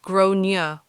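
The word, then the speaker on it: Gráinne: She asked what I meant, and I said, well, in Ireland, they typically pronounce it like Gronier.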